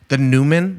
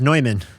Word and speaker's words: Neumann: The Newman. We're on the Newman mic. I believe it's pronounced Neumann. Neumann, sorry.